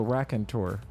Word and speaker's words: raconteur: raconteur. Is that how you say it? No, raconteur. Something like that means that you can speak well.